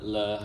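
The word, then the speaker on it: 乐: the word le has another pronunciation which is yue, means music.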